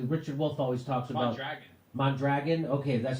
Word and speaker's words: Mondragon: It's so the Richard Wolff always talks about Mondragon.